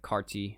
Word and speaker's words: Carti: You know, like, everyone pronounces it Cardi, but it's like Carti, whatever.